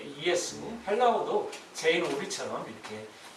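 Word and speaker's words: Ἰησοῦς: 마찬가지로 헬라어 발음을 J를 E로 발음하기 때문에 우리도 이제 예수님을 발음한 거예요. 헬라어는 이예수라고 발음한다고 합니다.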